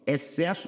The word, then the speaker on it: excesso: Excesso tem dois dígrafos. O xc excesso, porque o x não é pronunciado e o ss que também é dígrafo.